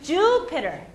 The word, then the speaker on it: Jupiter: 자, 제 강세 주에 들어가요. 그러면 어떻게 되냐면 Jupiter. 자, 계속 의식적으로 생각을 하셔야 되는 게 강세가 들어가는 곳에서는 길게 말하는 거. 길게 말하는 거 다들 엄청 잘하세요. 음량을 왔다 갔다 해야 된다는 거. 그러니까 피터보다 주가 소리가 더 커야 돼요.